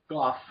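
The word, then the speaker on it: Gough: Or Goff, however you pronounce his name. Goff. Get it right, Dylan.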